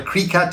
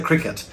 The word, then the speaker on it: Cricut: names in previous videos it's not a cree cut it's a cricket so i will try